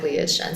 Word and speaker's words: SHN: Yeah, so we went with Shen, spelled SHN.